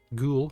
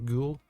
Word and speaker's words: gul: color yellow or orange is it ghoul sorry ghoul let's pronounce ghoul ghoul rot a yellow